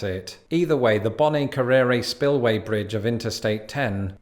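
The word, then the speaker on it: Bonnet Carré: that's that's not it so the locals go with something like bonnie carry let me know in the comments below how you pronounce it either way the bonnie carrera spillway bridge of interstate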